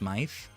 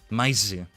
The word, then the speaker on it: Myth: the middle, T-H, and then it's pronounced Myth. Mostly the Japanese pronunciation, but like the katakana is written Maisu. And because both mice, as in plural of mouse, and the TH in myth, the end of it will be pronounced the same way, like a Z.